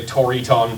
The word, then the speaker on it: Triton: Well, they pronounce it closer to like the original Greek.